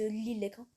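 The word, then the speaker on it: Lille-Lesquin: Alors, le S, on ne le prononce pas. Ils disent Lille-Léquin. Alors, l'aéroport de Lille-Léquin, c'est ça.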